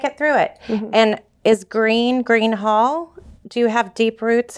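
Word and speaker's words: Gruene Hall: And is Green Hall? Do you have deep roots in Texas? No, I don't. So Greene is spelled Greene, and Green Hall is spelled Gruene.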